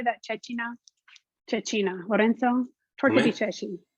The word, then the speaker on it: cecina: Cecina.